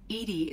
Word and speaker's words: EDI: Edie is the phonetic pronunciation of E-D-I.